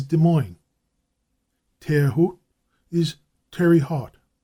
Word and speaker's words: Des Moines: Thus, Des Moines is Des Moines.